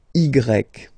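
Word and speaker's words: i grec: well it's igreek so if you need to spell it then you say igrec okay when you pronounce it it's like e okay but the name of the letter is igrec okay so if we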